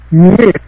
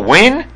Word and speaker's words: Nguyen: His name's pronounced Nguyen. He's what? His what? Nguyen. Oh, win? Like you're saying win? Like win? Like win a game?